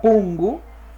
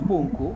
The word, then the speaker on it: pungu: Esta palabra la palabra pungu, ya no es punku, ya pungu está terminando en la vocal U.